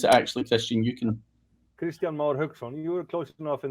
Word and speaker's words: Kristjan Mar Hauksson: How do you pronounce it actually, Kristjan? You can. Kristjan Mar Hauksson.